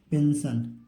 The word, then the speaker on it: pension: देखिए PENSION, इसको क्या पढ़ेंगे, पेंशन, ठीक है, पेंशन हो जाएगा, यहाँ पर आधा ना रहेगा।